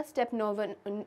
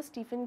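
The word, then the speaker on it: Stepan: स्टीफन की बेटी है अब यहां पर अगर आप स्पेलिंग्स पर जा आंगे ना तो एस टी ई पी ए एन है तो स्टेपन भी प्रोनाउंस हो सकता है लेकिन सिंस हम इंग्लिश प्रोनंसिएशन ही लेकर चल रहे हैं तो यहां पर ये हम स्टेफन भी कहकर बिल्कुल बुला सकते हैं राइट तो स्टेफन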